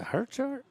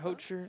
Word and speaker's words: Hocher: Is it Hercher? I say it wrong. Hocher.